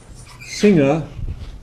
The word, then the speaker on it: singer: But singer would be at the end of a morpheme, because this ER is an ending. It's somebody who sings.